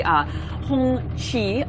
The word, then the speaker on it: Hongqi: And we are actually traveling through what this area is known for, which is the Hongqi automobile. You pronounce it right. Did I do a good Hongqi job?